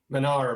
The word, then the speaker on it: Manar: are today with man Manar is that it's pronounced Manar Manar yes man how you doing today what's